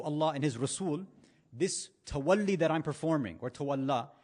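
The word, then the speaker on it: تولّي: the same root, is, now in Urdu, we usually have been told to call it tawalla, right? In Arabic, it's actually pronounced tawalli, not a big deal.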